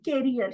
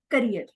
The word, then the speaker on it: career: that I didn't know anything then um then carrier she she pronounced the word carrier it is career so this is about speaker one Toast Master